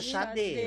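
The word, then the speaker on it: Sade: Vocês sabem pronunciar o nome dela? Sage. Eu sempre falei Eu sempre Sage, Xadê.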